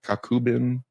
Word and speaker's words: Kakubin: and yeah six products Coco bin you said it right kakubin what I have no